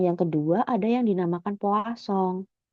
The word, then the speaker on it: Poisson: Sedangkan yang kedua ada yang dinamakan Poisson. Ini dari Prancis ya, bacanya Poisson.